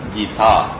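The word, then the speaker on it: गीதா: கடமையை செய்ய தூண்டின அறிவுரைகள் அடங்கிய நூலுக்கு ஸ்ரீமத் பகவத் கீதா அப்படின்னு பேர். கீதா அப்படிங்கிறது சரியான உச்சரிப்பு, பெண்பால் சொல்.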